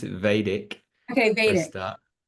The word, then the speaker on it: Vedic: we pronounce it Vedic Okay, for a Vedic.